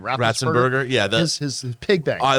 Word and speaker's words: Ratzenberger: John, how do you pronounce John's last name? Ratzenberger.